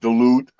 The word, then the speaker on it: Duluth: You know, the city of Duluth is pronounced Duluth.